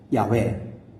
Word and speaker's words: 야훼: 그래서 뭐라고든 읽어야 될 텐데 그래야 후대에 하나님을 믿는 사람이 그 하나님을 호칭할 수 있을 터인데 그래서 마소라 학파들이 나름 모음자를 붙여서 야훼, 여호와 이렇게 부르게 된 것입니다.